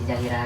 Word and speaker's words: ZHR: Kalau ZHR itu lebih bagusnya tuh apa, lebih tepatnya dibacanya apa tuh? ZHR. Ya, Dibaca. Zahira apa? Zahira. Oh, Zahira. Zahira.